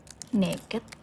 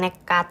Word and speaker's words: Nekad: Kok naked? Bacanya nekat, soalnya modalnya nekat.